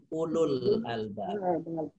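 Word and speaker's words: أولو الألباب: Ini yang kalau dibaca ada wawu setelah u tapi nggak boleh panjang ya? Iya. Iya. Ulul albab.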